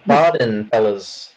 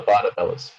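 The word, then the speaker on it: Barden Bellas: it is fake uh it's the barden fellas not the bada fellas oh did you say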